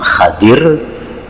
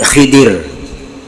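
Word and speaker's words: خضر: Jadi membacanya ada dua cara. Yang pertama Khadir. Nabi Khadir atau Nabi Khidir.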